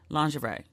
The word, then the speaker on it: lingerie: and the lingerie and let me say it the right way before y'all be like you can't pronounce that either lingerie okay could y'all be